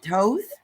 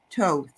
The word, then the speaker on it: Thoth: get a message from, is it Toth? Toth. Toth. Mhm. Toth. Mhm. Toth. I've been pronouncing that wrong. I always thought it was Thoth. It But is, that's yeah. So yeah. It's Toth. Yeah.